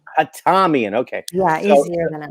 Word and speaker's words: Hatamian: How do you pronounce it, please? It's Hatamian. Hatamian, okay.